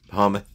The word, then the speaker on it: Behemoth: Behemoth. How do you say that? B-E-H-E-M-O-T-H. Behemoth?